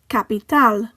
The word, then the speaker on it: capital: The next word ends in a consonant that is not an N or an S, so the stress falls on the last syllable. Capital.